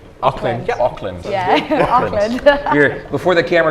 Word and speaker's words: Auckland: Now, am I pronouncing that right? Auckland. Auckland.